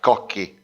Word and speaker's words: Cocchi: I know that in English speaking, my surname is spelled Cocci, but actually in Italian language is more like Cocchi.